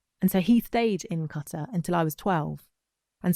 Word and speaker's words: Qatar: Qatar. Thank you. No one pronounces it right. No one does. Qatar, exactly.